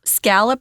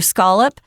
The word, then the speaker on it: scallop: Scallop or scolop. It's pronounced either way.